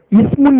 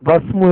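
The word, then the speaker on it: اسم: இதை ஆரம்பத்தில் வரும்போது நீங்கள் உச்சரிக்க வேண்டும், இஸ்மு என்று சொல்ல வேண்டும். ஆனால் இந்த இஸ்மு எனும் சொல்லுக்கு முன்னதாக வாவ், மா போன்ற வரும் என்றால் வஸ்மு என்று மாறிவிடும். இந்த அலிஃபை படிக்கக்கூடாது.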